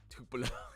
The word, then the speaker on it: Tupelo: Who's getting the wor uh I'm worried about a city that rhymes with uh Koopo. Do you guys know what city I'm talking about? Who could get the worst of this winter storm? Rhymes with Koopo.